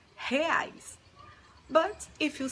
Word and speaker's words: real: suaren sampaio from brazil and this word is pronounced hais but if you say re-eyes people will understand thanks so ellen now the